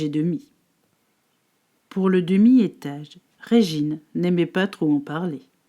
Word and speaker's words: Régine: Il fallait lire Régine, et non pas Régine vite fait. Comme cela, il semblerait que la différence est bien minime. Mais non, Régine se prononce en 3 fois. Le Ré comme la note de musique, le J comme Gina